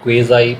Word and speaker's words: quasi: इस वर्ड की क्वेज़ाई भी है, British pronunciation, क्वाज़ाई American pronunciation है, और इंडियन प्रोनाउंसिएशन है क्वाज़ी. सो क्वाज़ी, क्वेज़ाई और क्वाज़ाई. सो ऑल द 3 pronunciations are correct.